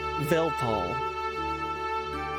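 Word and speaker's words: Weltall: If you want to pronounce Well, right, it is German. So, the W is a V. So, Velpal.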